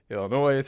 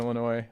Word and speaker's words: Illinois: Illinois, had a friend in Illinois. I know the S is silent.